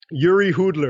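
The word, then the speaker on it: Jiří Hudler: Okay, I did research on that because I wanted to make sure I pronounced it properly. Give me one more. Just give me one more. Yuri Hudler.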